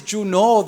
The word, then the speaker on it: Junot: My name, in fact, is Junot. The T is silent. If you pronounce the T, you're pronouncing my name wrong. Now, here's the deal.